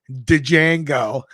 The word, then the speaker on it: Django: idiot in the movie dejango remember when he was talking to the French guy he goes can you spell it d J a n g o the D is silent you could just any